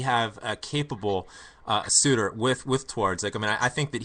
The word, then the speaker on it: Twardzik: Graham, it's Twardzik. Thank you very much, sir. Twardzik, Philip Twardzik.